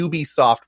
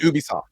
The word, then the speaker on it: Ubisoft: y o u yeah it's so it's a ub soft production yeah yeah okay which i think this